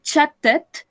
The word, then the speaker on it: chatted: Yesterday I chatted. Acá sí lo podemos pronunciar completo. Lo podemos pronunciar completo porque termina en T-E-D.